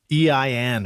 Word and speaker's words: EIN: time mmm correct okay what is an EIN or an inés or how do you say that no it is your right the first time it is e I n so that stands for